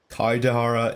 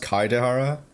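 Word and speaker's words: Kaedehara: out instead of words kaidahara it's supposed to be pronounced kaidehara they didn't know that with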